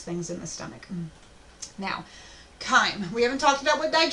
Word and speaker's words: chyme: Well, if you mix that with food, you get chyme, is how you say that word.